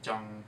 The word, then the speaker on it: Jung: really good place called Junk Donuts um Jung with a G soft G not junk um so I'm really